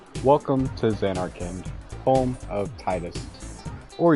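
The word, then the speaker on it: Tidus: a little bit welcome to Zanarkand home of Titus or Titus if you have to go that route correct pronunciation but yeah it it doesn't stick I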